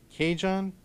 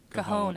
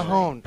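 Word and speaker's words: cajón: who provides percussion and Cajun. Cajon, actually. Cajon.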